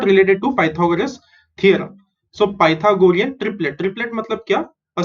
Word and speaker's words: Pythagorean: Py is pi, tha is tha, go is go, rean is rian. Okay, pi, tha, go, rian. Pythagorean. Okay, so it is somewhat related to Pythagoras theorem. So Pythagorean triplet.